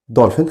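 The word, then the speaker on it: dolphin: دولفين. خلي بالك البي اتش هنا بنطقها زي صوت الاف كده دولفين.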